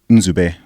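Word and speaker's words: Nzube: until my first real first name is in zoo bay well which is spelled n z ube so that's actually two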